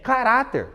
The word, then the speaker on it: caráter: Professor, uma paroxítona que termina em R, caráter. Nós chamamos no portão, né? Caráter. A penúltima é a mais forte, é paroxítona, termina em R, portanto a sílaba tônica é acentuada, ó.